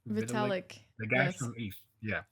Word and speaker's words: Vitalik: Vitalik? Vitalik.